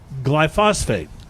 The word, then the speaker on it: glyphosate: have found traces of the controversial weed killer glyphosate. I'm not pronouncing it.